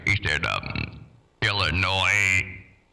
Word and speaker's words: Illinois: right he stand up Illinois with no s at the bottom at least he said